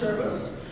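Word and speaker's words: Servus: And the context of the word, it's actually pronounced Cherbus, I believe Bavarian and also Latin.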